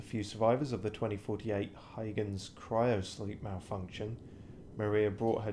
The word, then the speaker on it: Huygens: I'm not pronouncing it exactly properly, but it's closer to Huygens.